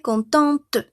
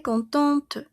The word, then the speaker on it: contente: Entonces, si aquí il cont solo pronuncio hasta mi e n femenino, yo voy a pronunciar hasta mi t. Elle est contente. Elle est contente.